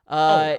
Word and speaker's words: Bielema: Brett Bielema. There you go. Bielema.